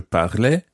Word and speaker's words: parlais: Whereas with je parlais, it's more of an E sound, almost like E in bed.